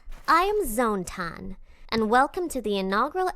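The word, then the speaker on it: Zone-tan: Now for your host, the one and only Zone Tan. It's pronounced Zone Tan.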